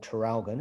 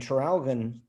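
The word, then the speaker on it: Traralgon: a a city called terralgon it's a very small city and tralgon a funny name it's spelt t-r-a-r-a-l-g-o-n trail quite difficult to trip off the tongue but it's actually an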